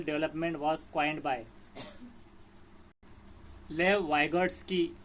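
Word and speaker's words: Vygotsky: Was coined by लेव वाइगॉट्स्की। वाइगॉट्स्की इसका pronunciation इस तरह करना है। और ये पियाजे नहीं है, गार्डनर नहीं है, थर्स्टोन नहीं है। तो वाइगॉट्स्की, इसे आपको याद रखना है।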